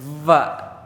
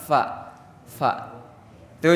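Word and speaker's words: ف: Dulu ada di pesantren, Pak. 3 tahun belajar huruf Fa. Gak bisa. Malah jadi Pa. Dibenerin tuh malah jadi digigit Fa-nya tuh. Va. Padahal sebenarnya cuman disentuh doang. Fa. Tuh jadi tiap orang juga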